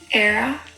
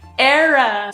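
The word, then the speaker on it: Éire: we say Ireland IR era ah era so why do we say Ireland era okay so they stuck true with the beginning E oh my God okay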